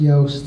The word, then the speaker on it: Yoast: Yoast. He's a Dutch, you know, and it's really Joost. So but we know it's pronounced Yoast, and so he spelled it that way for us, you know, gringos, I guess.